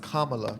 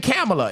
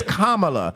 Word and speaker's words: Kamala: And then Marty says it's pronounced Kamala. Kamala. Let's not. And so I got checked on that today. Andrea has saying you keep saying Kamala. It's Kamala.